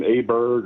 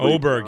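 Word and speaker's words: Åberg: Um, I thought uh I don't know how I I always mess up his pronunciation. Aberg or however Oberg. Yeah, Ludvig Oberg.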